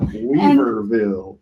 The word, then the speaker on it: Weaverville: Weaverville.